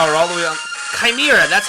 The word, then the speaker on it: chimera: Chimera, that's how you say it, Chimera.